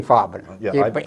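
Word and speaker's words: Farben: big chemical IG fob i g fabin you pronounce it the German Way so uh they were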